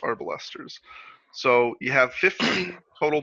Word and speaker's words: arbalester: And just because I am the podcast historical pedant, before we get started, for the record, it is pronounced Arbalester. Arbalisters.